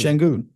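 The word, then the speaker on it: Şengün: pronounce his name again I want to make pronounce shenon shenon yes okay I just want to make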